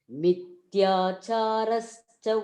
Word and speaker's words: मिथ्याचारः: इन्द्रियार्थान् विमूढात्मा मिथ्याचारः स उच्यते मिथ्याचारश्च उच्यते मिथ्या मिथ्याचारश्च उच्यते yes मिथ्याचारश्च उच्यते this is Mahaprana, that's why you have to pronounce it मिथ्याचारः स उच्यते मिथ्याचारश्च